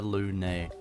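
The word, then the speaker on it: Lunae: hung Ry and bothers her Looney that's how you say it it's so cool dude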